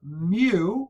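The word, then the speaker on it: μ: X bar represents the mean of a sample of maybe 100 students, where mu, yep, this is the Greek letter mu. It's pronounced mu.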